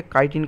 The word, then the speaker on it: chitin: लेकिन अगर वहाँ पे काइटिन, लिग्निन, यहाँ पे काइटिन को बहुत सारे लोग चीटिन भी प्रोनाउंस करते हैं, तो आप जैसा चाहे प्रोनाउंस कर सकते हैं, आपको अल्टीमेटली एग्जाम में